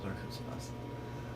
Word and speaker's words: Arkansas: That's how you pronounce it, Arkansas.